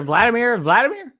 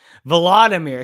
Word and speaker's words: Volodymyr: They're Vladimir? Something weird going on here, man. Volodymyr, excuse me. Again, nobody knows how to pronounce or spell Zelensky's name.